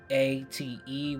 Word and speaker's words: Ate: They're trying to bring back a dead goddess called Ate. For the viewers, that's spelled A-T-E with a comma abbreviation on top. Her name is Ate.